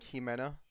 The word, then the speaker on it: Ximena: of odd but so if you're saying like ximena um that'd actually be j um instead of x even though it's spelled x m x i meno